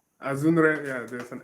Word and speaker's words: Azunre: Azunre, yeah, there's an N there.